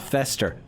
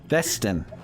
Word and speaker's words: Festin: Not Fester, Festin.